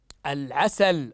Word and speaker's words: العسل: ايضا احسنتم اللام القمريه اللام القمريه التي تكتب تكتب تكتب وتنطق كما في هذه الكلمه هيا اقراوا هذه الكلمه مره اخرى العسل احسنتم العسل العسلي ما